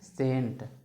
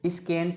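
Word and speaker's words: scent: सी साइलेंट में देखिए एस सी ई एन टी क्या लिखा है सेंट आप इसको स्केंट नहीं पढ़ेंगे इसको क्या पढ़ते हैं सेंट सेंट का मतलब परफ्यूम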